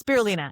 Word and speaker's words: spirulina: I pronounce her name right? Bram tea, yes, and it's spirulina.